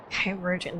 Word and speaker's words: Kairujin: Virgin, that's how you pronounce that.